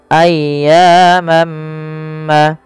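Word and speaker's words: أَيَّامًا: Kemudian mam ma'dudah ada tanwin bertemu dengan huruf mim. Maka ketika ada tanwin bertemu dengan huruf mim, yaitu langkahnya adalah masukkan tanwinnya kepada huruf mim dan diganti bunyinya. Awalnya ayyaman menjadi ayyamma ayyam ma'dudah.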